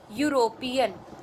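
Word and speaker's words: European: क्योंकि जब इस वर्ड को प्रोनाउंस कर रहे हैं तो यू क्या बोल रहे हैं हम? यूरोपियन, यूरोपियन।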